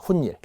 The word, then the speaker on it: 훗일: 자, 세 번째 훈닐이라는게 여기에 보이네요. 훗일을 도모하자. 훈닐. 뒤후자의 일인데 발음은 니은니은이 나겠죠? 훈닐 하고 니은니은 발음이 나는데 튀자가 한자어잖아요.